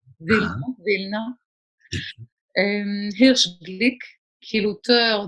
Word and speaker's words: Vilna: Enfin, je prononce en yiddish, mais vous aurez reconnu qu'il s'agit de Vilnius, évidemment. Vilna.